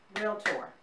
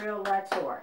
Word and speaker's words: Realtor: growing up you clap realtor realtor tomato tomahto same deal it's two syllables not real lessor it's not three syllables that's just some information